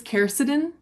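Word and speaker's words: quercetin: Ruth Roberts I'm so sorry if I mispronounce this. Keridin.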